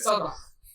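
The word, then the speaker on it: Saldaña: How do you say it? Saldana. Okay, because it's got the accent over the end.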